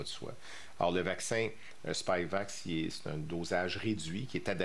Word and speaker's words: Spikevax: Alors, comme vous l'avez entendu déjà la semaine passée, Santé Canada a autorisé le vaccin Spikevax, c'est comme ça qu'on le prononce, là, de Moderna pour les enfants jeunes, les très jeunes enfants.